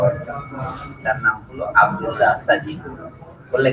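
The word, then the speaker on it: Sadji: তার নাম হলো আব্দুল্লাহ সাজিদ। বললে কি Abdullah A পি ইউ এল ওয়াই সাজিদ এস এ ডি জে, আপনি আফ্রিকান উচ্চারণ সাজিদ, আব্দুল্লাহ সাজিদ।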